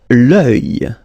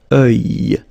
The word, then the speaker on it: œil: L'œil. L'œil. Strange combination of vowels here, okay? And then you will get the sound and then y. Œil. Alright? And it's masculine, by the way. Un œil, l'œil.